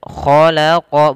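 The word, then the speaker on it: خلق: Kemudian kha agak ditebalkan, khalaqa bukan khalaqa ya, juga bukan kho. Jangan terlalu dahaknya tidak banyak, tapi dia sedikit saja tapi lebih halus dalam pelafalannya.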